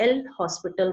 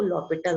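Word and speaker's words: L'Hôpital: तो इस तरीके से हम लॉपिटल रूल लगा के, यहाँ पर h साइलेंट है, हम इसे एल हॉस्पिटल रूल नहीं बोलते, इसको लॉपिटल रूल बोलते हैं।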